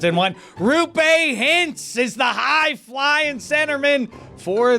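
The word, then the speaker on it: Roope Hintz: I betrayed myself by giving it multiple pronunciations in one. Rupe Hintz is the high-flying centerman for the heavyweight team, the Dallas Stars.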